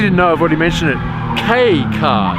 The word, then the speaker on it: kei: over the yellow number plate means it's a kei car and it's pronounced cave not key okay okay and what makes these things appealing